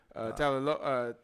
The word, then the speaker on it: Tagovailoa: Tagovailoa, I believe is how you say his name.